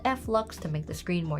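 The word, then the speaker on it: f.lux: On Windows, I use a program called Flux to make the screen more yellow. She's Did she just say Flux? Flock. I have never heard anyone say it like that. Everyone I have seen calls it flux.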